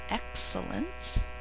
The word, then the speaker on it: excellence: means ouch first word excellence three syllables her excellent work is superior to mine think to spell e e um we only say one of those L's in speech but we're going to think